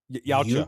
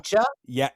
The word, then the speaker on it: Yautja: Yautja. Yucha?